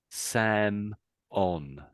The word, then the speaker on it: salmon: And there's no L, is there? So, they're not going to say the L. Let's listen to this. Salmon. No L. Salmon. Samon.